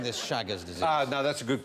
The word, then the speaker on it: Chagas: And while we're on the subject of diseases, who suffered from Chagas disease?